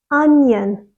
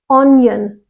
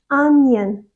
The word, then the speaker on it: onion: right it's onion onion again the stress is on the first syllable and the second syllable is short and soft so again students get this the wrong way around they put the stress on the second syllable and they have a strong a sound so they say something like onion onion but it's not it's onion onion for example onions make